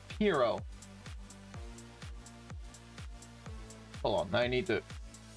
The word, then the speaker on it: Piero: Also, his name isn't brought up a whole lot, but his name is pronounced Piero.